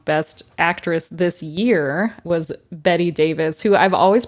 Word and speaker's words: Bette: But Betty Davis.